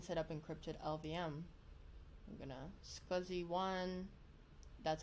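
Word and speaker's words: SCSI: entire disk and setup encrypted lbm I'm gonna scuzzy one that's how you pronounce that as si si you pronounce that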